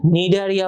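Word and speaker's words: Cnidaria: সামুদ্রিক এরপরে নিডারিয়া পর্ব নিডারিয়া নাইড নিডোসাইট থেকে নামটা চলে আসছে আমরা যদি নামটার মধ্যে দেখি নিডারিয়া এখানে তোমার নাইড ওয়ার্ডটা আছে কে এন আইডি কি এটা তোমার উচ্চারণ করা হয় না এই নাইট মানে হল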